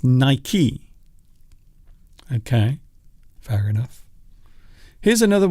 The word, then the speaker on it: Nike: It's Nike.